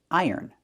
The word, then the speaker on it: iron: It's pronounced iron and ironing. Let's take a closer look. Iron. We have the long I sound plus the er like in burger, er. Iron, the N at the end.